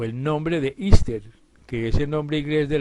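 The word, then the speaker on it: Easter: o el nombre de ister que ese nombre igl de la Pascua de resurrección y que se pronuncia ister se remonta a la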